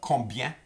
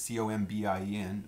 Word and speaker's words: combien: It's one word, and it's combien, combien. And it's got a B in it, C-O-M-B-I-E-N, but sometimes the B is not pronounced in certain regions, so you might have combien, combien.